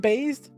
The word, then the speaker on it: Bass: It's pronounced bass, but because he is bass, he's kind of a loser in some of the games.